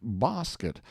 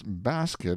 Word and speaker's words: basket: Webster's dictionary had the impudence to still pronounce basket bosket, when he knew that outside of his little New England all America shortened the A and paid no attention to his English broadening of it.